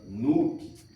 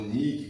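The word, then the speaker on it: Nyx: grega, noite que seria a famosa Nuke, né? Ou Nik, como alguns falam, diante dessa expressão Nik ou Nuke, ou Nix, como alguns pronunciam, que diante da mitologia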